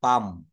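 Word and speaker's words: palm: ক্লাম বলে ফেলি আমরা প্লাম বলে ফেলি বলি this is প্লাম টি প্লাম মানে হচ্ছে তালগাছ কিন্তু এটা প্লাম বলা যাবে না এটা বলতে হবে পাম এটা কি বলতে হবে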